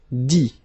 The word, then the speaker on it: dit: Dit. Okay, phonetically, same thing here, you don't pronounce the final T.